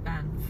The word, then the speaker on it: Banff: এটি হচ্ছে, এই ভিডিওটি যারা দেখছেন তাদের জন্য বলছি, এটা হচ্ছে ব্যানফ, উচ্চারণ হয়েছে ব্যানফ, ব্যানফ, BANFF।